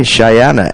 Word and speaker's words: Cheyenna: um our next guest is cheyana am I pronouncing that correctly is it cheyana yes Chey okay cheyana and as they put it on their Twitter